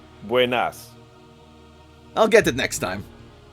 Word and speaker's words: buenas: Um, buenos diego. Close. Buenas.